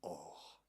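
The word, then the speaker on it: עור: Peau en hébreu, ça se dit or. Et il y a un autre mot en hébreu aussi qui se dit or. La première lettre est juste un peu différente, mais la prononciation est la même.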